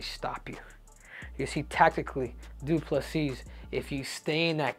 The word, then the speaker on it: Du Plessis: isra asna versus DDP D plus C with the silent s is uh if he